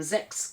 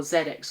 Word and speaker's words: ZX: and Zex collection uh Zex being the uh Japanese pronunciation for zedex or ZX I've never never really heard anybody pronounce it as um Zex outside of Japan sometimes when I watch Japanese videos they'll say Rockman Zex kind of thing because that's how it's pronounced here and maybe it's how it's